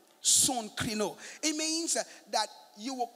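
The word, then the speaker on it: συγκρίνω: son crino in greek s-u-g-k-r-i-n-o pronounce soon krino son krino it means that you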